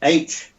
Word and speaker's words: Haigneré: And her name is Claude Haignere. My pronunciation is not right because it starts with an H, but the H in French surnames is silent. So it's Haignere accent. Claude Haignere.